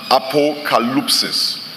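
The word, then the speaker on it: ἀποκάλυψις: The word for revelation in the verse we have read comes from a Greek word that is pronounced apocalypsis.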